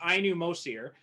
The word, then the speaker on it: Ainu Mosir: uh so the movie we're talking about is i knew most here uh am i pronouncing that correct yeah yeah so um i